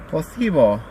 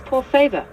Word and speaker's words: por favor: Posible. Close. It's por favor. You almost had it. Por favor. That's it.